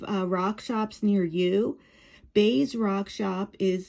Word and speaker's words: Beys: Baze Rock Shop is spelled B E Y S.